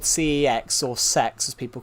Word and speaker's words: CeX: So, technically they call it sex because technically it's called the uh central exchange.